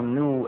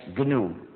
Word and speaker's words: GNU: Pero cuando es el nombre de nuestro sistema, no se debe seguir el diccionario. Pronunciarlo new es muy confundiente en inglés, sobre todo porque hemos trabajado 21 años, ya no es nuevo, pero todavía es GNU.